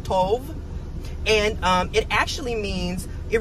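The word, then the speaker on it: טוב: I can't remember what it is in the Strong's Concordance, but it's T-O-B-E, but it's pronounced Tov.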